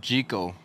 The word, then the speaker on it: Jekyll: It's actually pronounced Gertrude Jekyll. Is from a video that David Austin just put out not too long ago. And, you know, I know a lot of people had said it wrong. And I said it was Jekyll. Jekyll. We were saying Jekyll all the time, too. So it's Gertrude Jekyll.